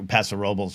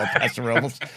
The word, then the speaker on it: Paso Robles: Yeah, I come from a town where Paso Robles is how you say it, but I would not say that's correct in the grand scheme of things, but the city is